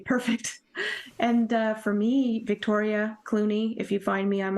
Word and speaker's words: Cluney: And for me, Victoria Clooney, if you find me, I'm on all the social media platforms. Clooney is spelled Cluney. So it sounds like the actor, just spelled different.